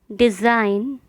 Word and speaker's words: design: ऐसी स्पेलिंग जिसमें जी है लेकिन उसका उच्चारण या प्रोनाउंसिएशन नहीं किया जाता। साइन, कैंपेन, कैंपेन अभियान। डिज़ाइन, resign, foreigner, assign. मैं रिपीट करती हूँ, sign, campaign, design, resign, foreigner, assign.